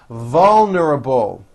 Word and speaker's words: vulnerable: doing in 10 years vulnerable give that a strong l vol without the police they were very vulnerable working this word has